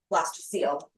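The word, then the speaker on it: blastocoel: C O E L. So you pronounce this like seal, blaster seal.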